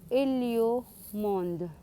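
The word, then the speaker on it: Héliomonde: Heliumond, sorry. Kasi pag nag-pronounce ka niyan, hindi mo ipopronounce yung letter H. So, Heliumond. Village Vacances Naturist. Yan po ang pag-pronounce dito sa French.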